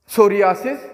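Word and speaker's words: psoriasis: इसके बाद पी एस है, यहाँ पर बी, ये जो फिर एस से पहले पी आएगा तो अगेन वो पी साइलेंट होगा। लाइक सोरा, सोरियासिस जो स्किन की एक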